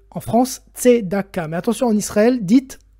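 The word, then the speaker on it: צדקה: aujourd'hui je vais vous parler à du sujet tdaka alors que vous prononcez en France t Daka mais attention en Israël dites t Daka il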